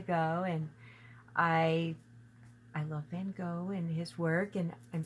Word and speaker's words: Gogh: To Boldly Go, and Go is spelled like Van Gogh, Goghh, yes, Yes.